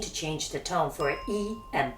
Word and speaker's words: 一: When E and Bu are followed by a character with the fourth tone, they both change to the second tone.